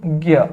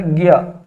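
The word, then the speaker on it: ज्ञ: ಹೌದಾ ಸೋ ಹಿಂದಿಯಲ್ಲಿ ಇದು ಗ್ಞ ಹೌದಾ ಈ ಜ್ಞ ಅಂತ ಹೇಳಿ ಕರೆಯೋದಿಲ್ಲ ಇದನ್ನ ಉಚ್ಚಾರಣೆ ಹೆಂಗೆ ಬರ್ತದೆ ಸರ್ ಗ್ಞ ಹೌದಾ ಗ್ಞ ಅಂತ ಬರ್ತಾ ಇದೆ ಹೌದಾ ಸೋ ಅಂತಂದ್ರೆ ಇದು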